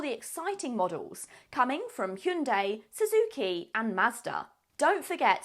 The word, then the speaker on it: Hyundai: year has been a little bit quieter for Hyundai apart from an iconic name pronunciation campaign oh it's Hyundai by the way